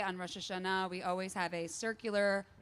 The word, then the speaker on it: Rosh Hashanah: Not Rosh Hashanah. Rosh Hashanah. The Israeli pronunciation.